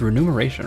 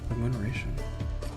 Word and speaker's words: remuneration: think that's spelled wrong it's renumeration right I don't think REM remove narration is a word we'll find out let's see remuneration oh I've been wrong this whole time I thought it